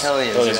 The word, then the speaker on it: Hellions: Volumes, The Case of Strain, and is it Hellions? Hellions, yes. Yeah. So make sure I pronounce that.